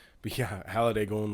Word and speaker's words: Halliday: His name's spelled with an A, and like it's like hall, like a hallway, Mm-hmm. and then a day, right?